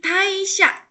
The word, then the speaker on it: 退社: Tapi taisha, ini kan ketemu sama kanji ya, jadi dibacanya tai.